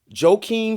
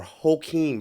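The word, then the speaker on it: Joaquin: that this guy I've heard his name pronounced two ways so I'm G say it both ways to make sure I cover my bases um Jem Phoenix or hem Phoenix he gets my respect now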